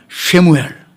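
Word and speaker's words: שמואל: 받으시고 사무엘이라는 아들을 줬습니다 사무엘은 히브리어로 발음이 재밌습니다 따르실까요 쉐무엘 그러니까 본명은 사무엘이 본명은 영어로 사무엘이지 본명은 발음 잘하십니다 쉐무엘 우리 교회 살겠든 최사무엘이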